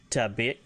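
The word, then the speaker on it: tebec: If you want to talk about ammo, like ammunition ammo, it's Tabek, T-E-B-E-C.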